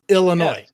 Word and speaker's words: Illinois: Like ill, like illness. Illinois.